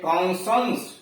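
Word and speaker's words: conscience: आई ओ यस हो, तो यस सी का उच्चारण स होता है, यानी बड़ा वाला स। जैसे कॉन्संस, सी ओ एन यस सी आई ई एन सी, कॉन्संस मतलब विवेक, कॉन्संस मतलब विवेक।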